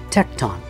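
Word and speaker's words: tekton: to describe in the greek jesus's occupation is tecton and that word is spelled t-e-k-t-o-n tecton well the definition of that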